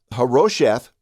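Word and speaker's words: Harosheth: So huh-ROH-sheth, and then immediately following that, and even with a dash between the two names in many translations, there's this word.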